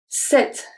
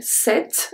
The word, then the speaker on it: cette: Cette saison. So here, cette, I don't say cette. So the E at the end is silent.